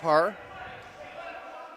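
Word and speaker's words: Pragh: We apologize to any members of the Parr family who heard us pronouncing it Prague, because it's spelled P-R-A-G-H. Looks like the city in Czech Republic, but he explained yesterday it's actually pronounced Parr.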